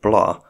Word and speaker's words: Blois: cousin and Henry's nephew Steven of blah which I'm told isn't pronounced blois because the French are no fun quickly seizes the crown